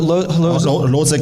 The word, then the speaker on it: Hložek: Adam Hložek, I apologize for the pronunciation.